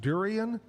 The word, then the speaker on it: durian: Is this pronounced durian?